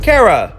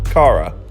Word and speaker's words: KARA: fact junk its Jun K popular girls name kara often confuses it with the real pronunciation Cara okay so internationally they go by K NK